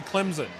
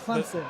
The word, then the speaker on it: Clemson: I grew up around here and there's, you know, how there's an a silent P in pterodactyl. Yeah. There's an invisible P in Clemson.